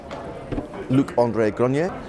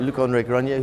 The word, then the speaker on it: Luc-André Granier: I'm joined by Luc-André Granier. Perfect. Yeah, I had to get the pronunciation. Luc-André Granier, who's the CEO of Advicenne, which is a Nimes, France-based company.